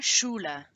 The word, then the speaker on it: Schule: And remember, in these two, eine Schloss and eine Schule, you have the SCH that we learnt in our phonetics lesson, which makes a sh, not a sch or a sk, but a sh.